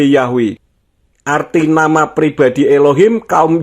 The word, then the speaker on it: Yahweh: Banyak transkripsi bahasa Yunani juga menunjukkan bahwa YHWH harus diucapkan sebagai Yahweh.